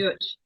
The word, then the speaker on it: Deutch: Deutch.